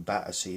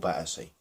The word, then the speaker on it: Battersea: It's always been called Battersea. Well, either the developers or the new inhabitants, should I say, the new people that have been moving into Battersea, to make it seem a bit more upbeat and upmarket and a bit more hip, I suppose, they wanted to call it Battersea, right?